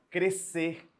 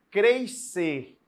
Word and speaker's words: crescer: está fazendo sentido isso uma vez que o dígrafo representa um só som se eu tenho um só som Eu não falo mais ser crescer né eu tenho que pronunciar um só som crescer nascer nascer né então presta atenção